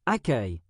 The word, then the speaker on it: accueil: Par exemple, un élève connaît le mot accueil, mais ne sait pas qu'il se prononce accueil.